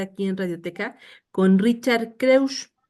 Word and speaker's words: Kreusch: en radioteca con Richard kus Sí está bien pronunciado Sí claro bueno pero creus o como quieran está perfecto no O cómo Perdón